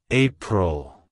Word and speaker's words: April: year it's pronounced as April April April to pronounce it correctly emphasize the first syllable e and the second syllable Pearl like hello April goodbye